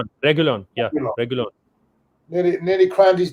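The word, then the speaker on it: Reguilón: I forgot his pronunciation. Regulion. Regulon.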